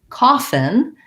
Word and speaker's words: coffin: So coffin, we have the O. This is kind of an unusual spelling. We actually have the caught law vowel here. So it's the aw sound.